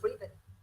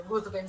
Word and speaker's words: Ruthven: encanta porque si no mal recuerdo en la serie lo llaman Lord Riven, que es la pronunciación que se supone debe tener el nombre, pero creo que todo el mundo coincide en que Ruthven se oye mucho más fuerte, entonces todos preferimos decirle Ruthven, incluso los que sabemos que en teoría se debe Es, pronunciar de otra manera.